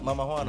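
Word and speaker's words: Mamajuana: Mamawana? Mama Juana.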